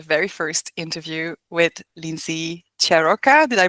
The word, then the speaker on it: Ciarrocca: We're meeting today for the very first interview with Lindsay Cheroka. Did I pronounce that correctly?